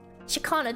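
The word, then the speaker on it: Ciaccona: Shakana. This is how you pronounce it. Okay. Shakana. Shakana. We have a certified Italian telling us that it's pronounced like this.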